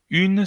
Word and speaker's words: une: Alors Vicky, une se pronuncia como un en español. No, no, no, no. Es un poquito diferente. Porque un, si no lo pronuncio mal, es con el sonido U, un, ¿ok? Une es con el sonido U. Y me vais a decir, pero Geoffrey, es lo mismo. No exactamente.